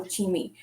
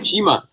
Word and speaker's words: Chima: So welcome, Chimi, to Tea Time. Chima. I wasn't sure if it was Chima or Chimi.